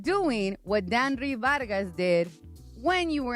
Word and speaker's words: Danry: Also, probably going to get you ejected and a lot of Danry. Sorry, that's how you say his name. Danry Vargas.